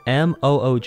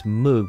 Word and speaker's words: Moog: Now, it's spelled M O OG, so I think it's Moog, but it's Moog.